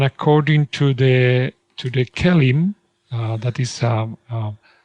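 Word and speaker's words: KELIM: questions absolutely the kellim the kellim is how we pronounce that Kellum right kellim yeah kellim is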